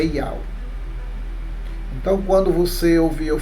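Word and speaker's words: יהוה: A sua transliteração é YHWH e a sua pronúncia no mundo inteiro é Yau.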